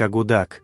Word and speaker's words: Akutak: Сами аборигены Аляски произносят название блюда как агудак, что с юпикского языка переводится как нечто жирное и перемешанное.